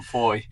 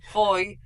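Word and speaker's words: Fowey: It was sunny when we set off from where we left from foy foy which is spelled thaw by the way.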